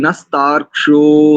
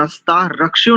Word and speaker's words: नस्तार्क्ष्यो: दिगंबर जी और कई लोगों का उच्चारण नस्ता रक्ष्यो नहीं करेंगे, रक्ष्यो नहीं, जो क्षा है वो आधा है, नस्तार्क, नस्तार्क्ष, नस्तार्क्ष्यो ऐसे, नस्तार्क्ष्यो।